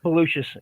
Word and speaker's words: Belucius: I want to make sure I pronounce his name right because a lot of people, I don't want to mess with it. It's Belucius. Yep.